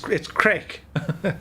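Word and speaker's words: craic: So it's not crack as you think. It's crack. How's the crack? Or the crack is mighty. Or this looks like mighty crack. So we get away with it because it's spelled differently.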